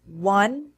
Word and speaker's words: one: in wheel and why the words one and once are interesting because they begin with the W sound even though there's no W in the written form remember from a previous